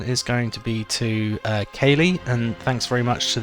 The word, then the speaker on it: Kyrre: I've actually confirmed it with my mother-in-law, who is Irish, and she said that Kyrre is actually the right way to say it, apparently.